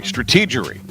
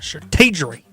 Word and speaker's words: strategery: Uh strate actually say in Green County strategery for uh bringing on Mully at the time. You say it like that. You got to say with stronger accent. Strateery.